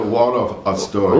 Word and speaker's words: Waldorf Astoria: The Waldorf Astoria.